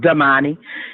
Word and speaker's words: Domani: They took that whole victim scheme and made Demani and his name is pronounced Demani.